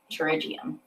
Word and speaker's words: pterygium: um uh how do you say that uh pterygium pterygium so what we're doing here is we're going